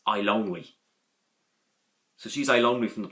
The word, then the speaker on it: Eilonwy: I kind of say Elanwy, but she's pronounced as Eilonwy.